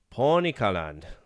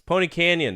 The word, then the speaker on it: Pony Canyon: Pony kaland canyon. Pony kaland. It's Pony Canyon. They couldn't say it right because they're they're Japanese.